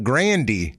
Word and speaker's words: Grande: case of Ariana Grande her actual pronunciation is Ariana Grandy and then some somebody first me dur his Grande and she's like that sounds cool let's go with that so I guess you